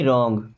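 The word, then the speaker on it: wrong: है don't get मी रंग don't miss मत गेट मी मुझे समझना रंग मींस गलत रंग में डब्लू साइलेंट होता है ओके डोंट गेट मी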